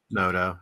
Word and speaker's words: Noto: is Phil Noto is Noto how do you say that Phil Noto nodo yeah okay but these